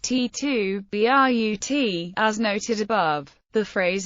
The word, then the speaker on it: Et tu, Brute: by Latin students pronunciation in classical Latin all letters are pronounced when spoken leading to the phrase being pronounced T2 b r u t as noted above the